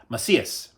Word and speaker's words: Macias: Female Revenge, Scorpion versus Katana by Patrick Macias. Macias. Sorry, it's pronounced a little different than it's read.